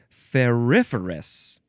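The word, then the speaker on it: ferrous: a silly example feris is that how you pronounce that word um yeah it's coming up in this word it's ferous ferous that's how you say it okay we'll talk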